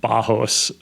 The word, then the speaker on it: Barros: it's weird in like in Portuguese when you have double RS it's pronounced as an H okay yes cuz my dad's Brazilian so it's pronounced bajos yeah oh my gosh